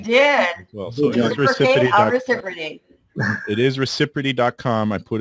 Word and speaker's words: ReciProty: ReciProty. Yes, you did. Well, so it is ReciProty.